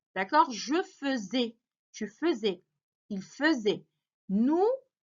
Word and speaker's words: faisais: verbe faire parce que la conjugaison, ça s'écrit avec AI. D'accord? F-A-I. Ça veut dire, normalement, on doit lire fait. Mais ça se lit feu. D'accord? Je faisais.